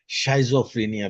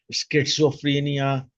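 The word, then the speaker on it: schizophrenia: कुछ लोग कहते हैं, शाइजोफ्रीनिया भी कहते हैं। अब जो भी वर्ड पिक करो उसको याद कर लो, शाइजोफ्रीनिया, स्किट्सोफ्रीनिया या चाइजोफ्रीनिया। ये एस को साइलेंट करके बोलते हैं।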